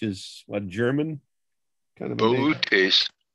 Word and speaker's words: Boötes: What does the double dots above the O kind of indicate, Tom? I think it's just indicating a syllable. It's not a German word. It's not an umlaut.